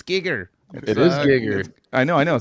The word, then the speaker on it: Giger: We're like, dude, it's Geiger, and you're like, dude, it's Giger. It is Giger. I know. See, there you go. So you're doing it too. I listened to the man say it himself. It's Giger.